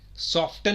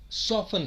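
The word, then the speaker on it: soften: जैसे egg yolk नहीं होता, एग योक होता है। सॉफ्टन नहीं होता, सॉफन होता है।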